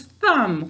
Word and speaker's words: thumb: hold the marker thumb thumb is a two-way word to spell it we say thumb say that with me thumb yep it's just like lamb and lamb we've got an x that extra sound at the end one more time say